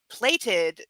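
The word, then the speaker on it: plait: stupid grasping a plated plated that is how it is pronounced but it's like plat it is a word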